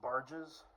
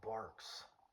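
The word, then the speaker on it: Barq's: And then I read the can and it said it's pronounced barks.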